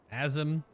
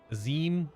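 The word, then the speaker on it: Azem: of aims no less azim aim it was definitely pronounced aim earlier so being it remade with all the voice over stuff now unless I'm just totally misremembering it's AIM now instead of azim so yeah it must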